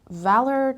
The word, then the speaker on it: valor: word is lunatic lunatic so valor the stress was on the first level and lunatic again the